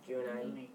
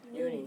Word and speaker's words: Juni: Juni. Uni. Okay, we just talked about how J's are pronounced.